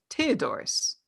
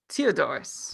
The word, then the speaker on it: Theodorus: his full name is Theodorus. Theodore or what? Theodorus. What is that? What do you mean? Like, what are you saying? Like that's his name. How do you spell that? Teo. Mm-hmm. Dors. Theodorus.